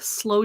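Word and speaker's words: sloe: hot toddy a mold slow gin i don't think i've ever had slow gin before and it's spelled s-l-o-e not like it's slowly hot buttered rum punch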